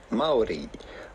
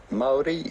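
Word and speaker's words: Māori: Well, the natural indigenous way to say it would be Maori. Maori, that's how themselves the Maoris would say it in New Zealand, Maori.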